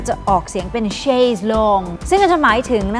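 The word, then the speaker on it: chaise longue: คะ หลาก หลาย ประเภท ค่ะ มี ทั้ง แบบ Chase Lounge c h a i s e l o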